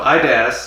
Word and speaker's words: Idas: So IDAS sounds like the word I and ass with a D.